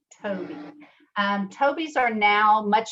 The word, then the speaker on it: Tobii: device called the tobii and it's spelled t-o-b-i-i toby um toby's are now